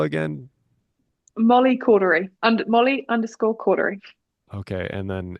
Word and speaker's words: Caudery: Molly cordery under Molly Cordery. Okay. And then it's cordery. Yeah, it's I was saying cordery, but no, it's it's close. Cordery is easy, but cordury is how it's spelled. Cautery.